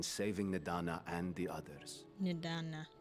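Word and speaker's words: Nidhana: Nidana. So that H is silent.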